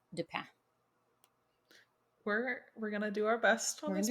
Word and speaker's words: Dupin: some in school but so I think it's I think it would be sort of French uh pronounced Japan d-u-p-i-n um so American audiences would would look at that and say do pin but but is uh yeah a good C Auguste de pan we're we're gonna do